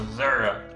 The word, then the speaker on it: Missouri: Although, if you're running for office, and you're going in those areas, you have to pronounce it like that, though. Missouri.